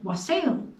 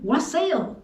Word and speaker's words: wassail: solstice was to make a special drink called wasel sometimes pronounced wassel wassel means good health they would say wassail as they toasted each other like saying cheers when